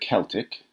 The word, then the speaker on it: Celtic: The word Celtic is normally pronounced in English with a hard k sound and comes from a